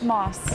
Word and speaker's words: Masse: just also is it is it Moss or moss moss okay I we got a